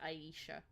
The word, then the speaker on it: Aisha: spelled, but it's pronounced Aisha still. My name is pronounced Aisha, though. I'm Aisha.